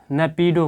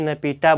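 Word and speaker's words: Naypyidaw: की राजधानी क्या है न पीडो कहीं कहीं न पीडो बोला जाता है कहीं कहीं न पीटा बोला जाता है उच्चारण में जैसे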